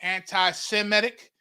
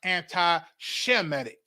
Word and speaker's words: anti-Semitic: When you hear anybody today say anti-Semitic, it's actually pronounced anti-Shemitic.